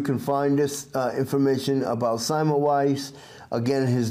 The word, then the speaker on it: Semmelweis: an appointment in a clinic of internal medicine, Simon Wise decided to specialize in obstetrics.